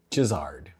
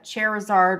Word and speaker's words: Charizard: Charizard. Charizard. Charizard. Charizard Charizard. Charizard. Okay. It's like a lizard that's charred.